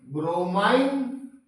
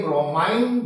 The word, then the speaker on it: bromine: bromine You can say broine also there is no problem. Okay. That in different UK and US and Canada they pronounce different way. Bromine bromine you can say bromine you can say no problem.